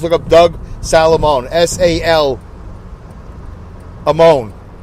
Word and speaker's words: Salamone: S-A-L Amone. Sala, S-A-L-A, Moan, M-O-N-E, not M-O-A-N, silly.